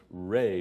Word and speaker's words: Ra: The eye of light was Ra, pronounced Re by the Egyptians.